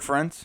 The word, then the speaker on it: Ferentz: I can't pronounce the Iowa's coach. Kirk Ferentz?